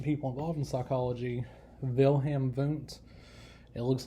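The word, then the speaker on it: Wundt: involved in psychology wilhelm voont it looks like it's wilhelm lute but it's german so the w is pronounced as a v but wilhelm voont he's considered the father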